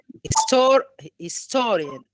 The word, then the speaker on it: historian: stress is on the syllable before the suffix. I think it's store. Historian.